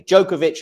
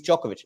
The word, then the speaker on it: Djokovic: He's just wrong on his pronunciation because he says like listen uh we of you know he says he's been saying Djokovic and lots of people were commenting on on how he says it and then he's like but listen I always go with how they say it in their country or how the player pronounces it and he says that's but it's not it's it is Jovoic.